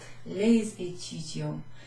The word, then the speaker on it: les étudiants: which is an E, we pronounce the S at the end of the previous or the preceding word. So les étudiants.